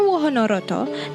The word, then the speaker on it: Wahanarata: In Javanese, they pronounce it Wahanarata. Wahana means a place and Roto means the carriage. But before Wahanarata, the name was Kereta Kraton.